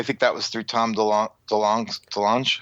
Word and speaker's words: DeLonge: And I think that was through Tom DeLonge.